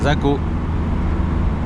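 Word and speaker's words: Zakho: Zako. Alors ils prononcent pas trop le K, j'ai l'impression. C'est comme les Turcs qui écrivent des G sans les prononcer, eux ils disent ça.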